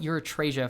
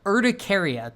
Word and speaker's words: urticaria: And the entire time I call it urethrasia for some reason. So urticaria, that is the correct pronunciation for hives.